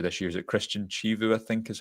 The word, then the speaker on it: Chivu: The name of the Inter Milan manager this year is it Christian Chivu I think is how it's pronounced.